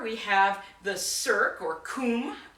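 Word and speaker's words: cwm: you'll call them a coombe. So in Scotland, it would be called a corrie, and in Wales, a coombe. And yes, that is spelled C-W-M, because in the Welsh language, W is a vowel.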